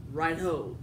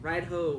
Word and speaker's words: Raidho: Sorry, I'm about pronunciation, but the way the website and the book I have say to pronounce is Raidho. Like, Raidho, like, hi-ho, silver away. Like, Raidho. Pretty much.